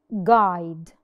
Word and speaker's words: guide: let's take another example for example teni guide we did not pronounce the letter U Yani murshid hey foreign